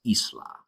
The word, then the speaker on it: isla: I in Spanish, but the I in Spanish sounds like E. All right, it sounds like the word I in the word studio, if you were to say that in English. An example word is isla. So again, the letter I in English sounds like E in Spanish.